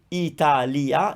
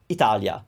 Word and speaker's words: Italia: you might notice that we are kind of gliding over the e and that's there's a whole reason for that but so it's not going to be italia it's going to be italia italia it's a little quicker on the e pisa pisa the leaning